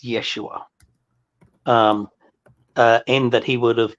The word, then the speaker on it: Yeshua: now call Jesus, but his name was probably better pronounced Yeshua, and that he would have been executed by crucifixion.